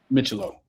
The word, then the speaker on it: Micciolo: Micciolo. Okay, I'm sorry. That's okay. Micciolo? Yes. Micciolo.